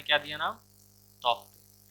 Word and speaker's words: Tauktae: तो जैसे देखिए तौकते इसने नाम दिया था यहाँ पे, तो उसने प्रोनाउंसिएशन भी दिया था यहाँ पे ताओते।